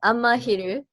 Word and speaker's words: Amahiru: So you got Amahiru. I hope I pronounced the band correctly. Yeah, Amahiru.